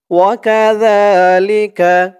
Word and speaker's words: وكذلك: ওয়াকাযা, জালের উচ্চারণটা একদম নরম পাতলা হবে, জিহ্বার মাথা উপরের দাঁতের মাথার সাথে লাগবে জালের উচ্চারণটা করার সময়।